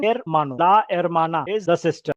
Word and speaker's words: hermano: So el hermano, h is silent, hermano.